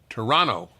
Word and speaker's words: Toronto: you say in Toronto Toronto they don't pronounce the second T you're from Toronto by